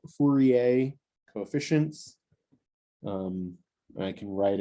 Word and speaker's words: Fourier: going to be called fourier coefficients and i can write it out so fu re a it's how you pronounce his name he's french hopefully it's close enough but it's fourier this is the name